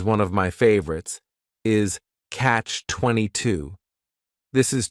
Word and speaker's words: catch-22: of my favorites, is catch-22. This is 2 words. It's a compound noun. The word catch is just 1 syllable, and then 22 is 3 syllables, and the stress is on that final syllable, catch-22.